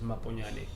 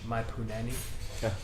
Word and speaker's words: Maponyane: my surname which is my pony Ally yeah funny story kids in primary school couldn't pronounce my surname which they used to pronounce my poonanny oh you're white school